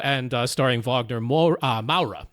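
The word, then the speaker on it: Moura: So written directed by clever fiho and starring Vagner Mo uh Ma. Ma is how he pronounces that last name.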